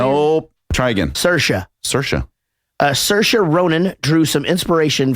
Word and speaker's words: Saoirse: Saoirse, is that how you say it? Nope. Try again. Saoirse.